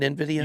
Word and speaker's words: Nvidia: Nvidia.